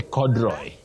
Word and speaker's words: corduroy: Betty, many people say corduroy. Do you agree with me? Yes. Corduroy, but it's corduroy. Cordu. There is that sounding oo. Corduroy. Corduroy, not corduroy that we hear locally.